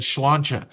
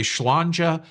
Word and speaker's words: sláinte: yeah, they were Irish, they would say sláinte, which is spelled like this, but I think it said sláinte.